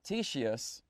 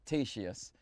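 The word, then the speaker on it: Ctesias: this is described by described by greek author tshis yeah i pronounced that correctly it's spelt c te s IAS and i go good it and spent ten minutes learning how to pronounce it t sheís so i mean you could have just written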